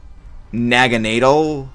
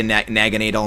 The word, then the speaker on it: Naganadel: I mean, I always pronounce it as Naganadel. I mean, even though I say Naganadel, Naganadel, flip-flop, because it's like Naga, and then I believe the German pronunciation of needle, which is, yeah, I believe, nadal.